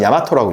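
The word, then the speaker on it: 倭: 일본 말로는 야마토라고 읽어요.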